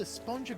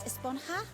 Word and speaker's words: Esponja: and the chunk and that's what this whole a sponger grande thing has been about huh actually it's pronounced esponja with an H sound at the end but